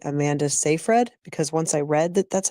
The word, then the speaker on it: Seyfried: many ways, but I'm going to say Amanda Seyfried because once I read that's how it's pronounced, but they always call her Amanda Seyfried.